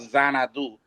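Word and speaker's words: Xanadu: And um this mansion the it's now called Zanadu spelled with a X and uh uh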